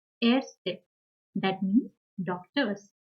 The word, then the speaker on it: Ärzte: So, for example, here A umlaut, er, set, A is pronounced as Ärzte, Ärzte.